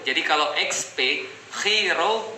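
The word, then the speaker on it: Chi Rho: Nah, jadi XP itu kalau XP bacanya dalam bahasa Yunani, X itu bacanya chi, P itu bacanya ro. Jadi kalau XP, chi ro bacanya adalah Christ, artinya adalah Jesus Christ.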